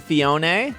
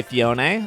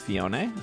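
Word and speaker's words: Phione: have uh manaphy and fionae this is the proper way to say fionae I know some people say fion or whatever you're wrong it's fionae it's okay uh I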